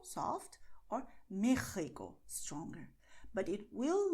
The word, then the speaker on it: México: But it will not pronounce Mexico. This is wrong, okay? So do not do that because, well, the letter X in Spanish does sound like taxi, generally in Spanish, but Mexico is an exception.